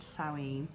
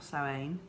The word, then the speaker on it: Samhain: It's spelt Samhain but said Samhain or Samhain.